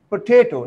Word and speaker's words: potato: Mean the stress falls on the second syllable, potato, not potato or potato, but stress falls on the second syllable, potato, potato.